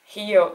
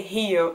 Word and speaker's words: Rio: So Rio, it's amazing. We say Rio and here we say Rio. Anyways, it's just the R pronunciation.